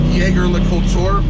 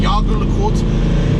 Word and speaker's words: Jaeger-LeCoultre: I would have pronounced it Jaeger-LeCoultre, but that's wrong. Jaeger-LeCoultre. So they make fine watches, very nice fine watches.